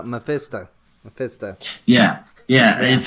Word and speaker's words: Mephisto: the what's his name i always say manifest though but um i say manifesto you pronounce it differently oh oh uh oh uh mephisto yeah yeah if it's